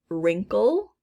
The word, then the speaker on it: wrinkle: silent gh next is silent w as in wrinkle silent k as in